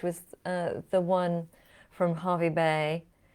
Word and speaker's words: Hervey Bay: uh the one from Harvey Bay why is it called Harvey Bay when it's spelled hervey Bay that's something that's just